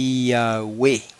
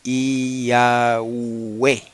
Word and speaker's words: Yahweh: Pero en griego se escribe como iota, alfa, upsilon, epsilon. Y eso se lee, no hay otra manera de leerlo en griego, eso se lee Yahweh. Todas son vocales. Yahweh.